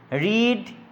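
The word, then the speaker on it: read: রিড, you will have রেড। এই উচ্চারণটা হবে রেড, রিড, রেড, রেড। প্রেজেন্টে হয় রিড, আমি পড়ি, আই রিড, আমি পড়েছিলাম, আই রেড।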